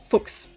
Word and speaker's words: Fuchs: Or I guess, yeah, that would be how you pronounce that specific spelling, but you can also pronounce it Fuchs, which can sometimes be quite amusing to people who don't speak German but do speak English.